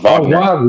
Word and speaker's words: Wagner: series is because of Wagner. Wagner is back. Has really nothing to do with Pablo. It's pronounced Vagner.